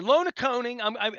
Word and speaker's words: Lonaconing: Lona Coning. I need to spell. I was pronouncing it wrong. Lonaconing. Right.